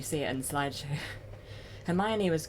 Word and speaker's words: Hermione: mispronouncing her name because I thought her name was pronounced Harmony.